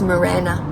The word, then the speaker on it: Marana: oh there's another one yeah did I say Marana correctly pronounce it correctly it's Miranda okay it's Miranda yeah and I also used